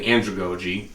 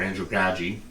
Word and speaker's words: andragogy: One of the things that I find interesting is the use of pedagogy and andragogy, or andragogy, however you want to pronounce it. It's heard both ways.